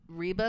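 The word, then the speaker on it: Reba: Taylor Swift it is I never pronounce her name right reeba McIntyre oh okay it's not rebba she the country one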